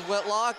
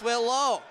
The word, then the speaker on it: Whitlow: I mispronounced his name as Whitlock. It's Whitlow.